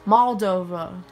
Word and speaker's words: Moldova: 1991 just like i said rob paulson it's pronounced moldova i heard what paul says in the country